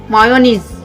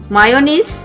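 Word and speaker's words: mayonnaise: Next है, हम बोलते हैं मायोनीज। मायोनीज गलत है, मायोनीज गलत है, सही क्या है? मेयोनीज।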